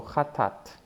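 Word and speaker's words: חטאת: We know the first letter already, that's ch. The two vowels underneath, they're both a. So cha. The next would be ta. Aleph is silent. And at the end we have the second tav, second t sounding. So chatat, chatat, sin.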